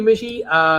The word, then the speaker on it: Mishy: Thank you, Mishy. Sounds like fishy, rhymes with fishy.